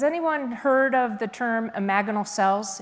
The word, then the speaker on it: imaginal: Has anyone heard of the term imaginal cells? It's spelled imaginal, but it's pronounced imaginal.